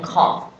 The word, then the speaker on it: cough: 所以加在一起呢念 cough，那一样写个一。